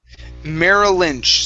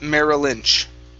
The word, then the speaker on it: Merrill Lynch: what's the last one merrill lynch so you want to connect the two l sounds merrill lynch okay thank you okay